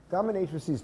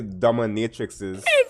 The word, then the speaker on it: dominatrices: I guess it's the right way to say it. I guess you wouldn't say dominatrixes. That sounds wrong. It would be dominatrixes sounds wrong.